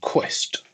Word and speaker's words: Key West: in Key West, Florida, which is apparently, I'm told, pronounced Quest rather than Key West, which is how I originally.